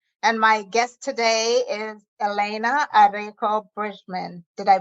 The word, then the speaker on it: Elena Arecco Bridgmon: And my guest today is Elena Arecco Bridgmon. Did I pronounce that right?